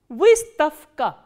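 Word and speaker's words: выставка: So, what happens when a voiced consonant comes before the voiceless consonant? The voiced consonant will be pronounced as its voiceless counterpart, which is f.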